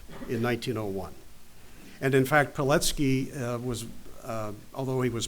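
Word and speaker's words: Pilecki: c k i looks like Peli but it's pronounced petki it was polish he was born in 1901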